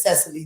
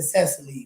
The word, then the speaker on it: Cecily: So I always say it with Cecily, like 3 syllables. It's Cecily. Cecily. Or Cece. Cece. Yeah. Or I like Cecily. Yeah, I'm going with what Mama said. Yeah, Mama said Cecily. Like, why are you saying your name like that? I'm like, it's Cecily. She was like, it's 2 syllables.